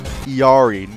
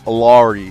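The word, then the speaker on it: Illari: Iari, not Alari. I don't give a fuck how she's pronouncing her backstory things or whatever. It is fucking Iari.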